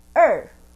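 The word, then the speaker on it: 二: it's easy number one number two so how do we pronounce r in english like uh right so we just put a little bit force like er er the number three is sun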